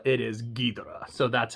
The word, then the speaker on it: Ghidorah: And as I am pronouncing it, because from watching the film, it is not Ghidorah, it is Ghidorah.